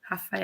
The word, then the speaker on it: Raffaella: And then you had the Raffaella's pronunciation on there, which I found really interesting. It's actually a H. Raffaella.